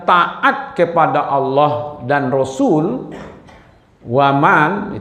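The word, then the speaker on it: وَمَنْ: Siapa yang taat kepada Allah dan Rasul, waman, itu kan karena dia bacanya man, waman, tapi karena disambut oleh ya, wamai, man di situ manusia maksudnya.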